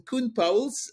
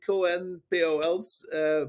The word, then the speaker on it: Koen Pauwels: So in the Belgian Pauwels. pronunciation, Koen Pauwels. When I joined Tuck in 2001, they thought Colin Powell was joining them, so they were very disappointed. So yes, you would, in any other language, you would say Cohen Pauwels, but yes.